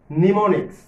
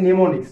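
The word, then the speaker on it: mnemonics: নিমোনিক্স। First বলা হয়েছে নিমোনিক্স, যদিও এটা এম দিয়ে শুরু বাট উচ্চারণটা হবে নিমোনিক্স।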